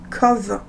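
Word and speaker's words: Cobh: lendemain on va à COB c'est o P H qui est prononcé cause par les Irlandais on prend un bus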